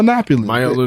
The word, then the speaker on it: Yiannopoulos: Like, did you pronounce his last name? I was struggling to get that. Yeah, Milo Yiannopoulos.